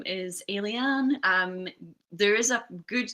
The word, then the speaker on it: Aylie: is the case um it's three syllables alien very similar to the word alien um but alen uh